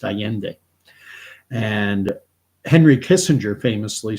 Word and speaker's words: Allende: is how you spell his name, and it's pronounced Allende.